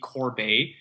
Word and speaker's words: Corbet: guys didn't call me Corbet because so many people that I meet here think it's French and don't pronounce the te's and they call me